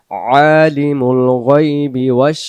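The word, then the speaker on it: عَالِمُ: আল্লাহু লা ইলাহা ইল্লাহু আলিমুল শাহাদা আলিমুল আলিমুল আইন অক্ষর গলা চাপ দিয়ে উচ্চারণ করতে হবে আইন জবর আলিমুল গাইবি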